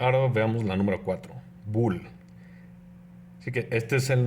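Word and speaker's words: bool: todo su nombre completo nada más es Bull b o o L sí que se pronuncia Bull Y eso solo puede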